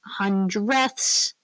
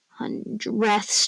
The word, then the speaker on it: hundredths: Remember hundredths. Don't normally say it like that emphasized, but hundredths. Just to make sure that you know it's hundth.